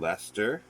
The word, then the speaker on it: Leicester: watch something they would talk about leicester square you know a place called lester yeah perfectly fine and then